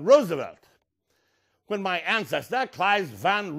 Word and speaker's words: Roosevelt: know it irritates me so the last name is Roosevelt not Roosevelt not Roosevelt but Roosevelt when my ancestor KES